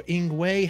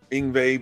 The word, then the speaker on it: Yngwie: because they pronounce their they pronounce their W's as a v so this is good